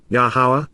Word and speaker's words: Yahweh: God, in conjunction with, Im, together with, Yahweh, Yahweh, the proper pronunciation of the name of Yehovah, our Eloah,